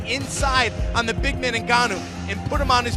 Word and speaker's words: Ngannou: Let me make sure I pronounce these names right because the pronunciation police Brian Stan just slaughtered it. Francis Ngannou.